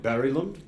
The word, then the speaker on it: Berglund: I do understand that I don't pronounce that correctly. I have received some coaching. I'm told it should be something more like Berglund. Is that decent? Okay, there's not a complete consensus. It sort of depends who I ask. Sometimes the G comes out a little harder, but I say